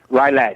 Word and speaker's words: Rylett: Is that how do I pronounce your last name? Rylett.